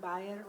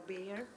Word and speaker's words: Bayer: Enterprises I am I represent buyer or Bayer whatever you wish to pronounce it as I look after CSR